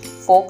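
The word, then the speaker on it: folk: फोक song, यहाँ पर L silent है, इसे फोल्क नहीं फोक कहेंगे।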